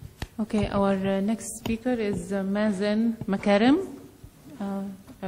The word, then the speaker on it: Mazen Makarem: Okay, our next speaker is Mazen Makarem. I pronounced it right.